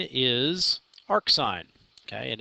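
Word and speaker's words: arcsin: way they're abbreviations read we pronounce them according to the real words that they represent okay so there are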